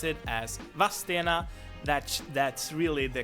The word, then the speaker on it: Vadstena: The city or town of Vadstena is usually spelled and pronounced by a lot of Swedes as Vadstena.